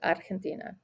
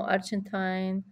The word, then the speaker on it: Argentina: I will always say Argentina. No Argentine, no Argentine. It's Argentina. It's how we pronounce it.